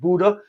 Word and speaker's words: Bodø: When I was younger, I worked in a place called Bodø. It's spelled, I probably pronounced it wrong, B-O-D-O.